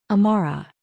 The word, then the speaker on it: Amara: Amara. He pronounced it perfectly the Korean way. Amare with equal stress on each syllable.